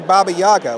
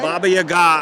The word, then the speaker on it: Baba Yaga: Because I say Baba Yaga. What do you say? Baba Yaga.